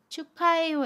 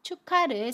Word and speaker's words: 축하: 바램 해요 연음 이라고 합니다 그래서 입학을 이라고 발음 해요 입학을 마지막으로 축하해요 에서 축하를 살펴보겠습니다 축하는 축하 라고 발음 해요 아침 기억이 다음에 오는